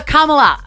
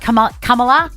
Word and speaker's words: Kamala: President Biden has stepped aside out of the race for president and has said, vote for Kamala. Is that how you say it? Kamala?